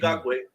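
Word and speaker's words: Ngakoue: Ngakwe, edge rusher, Perfect.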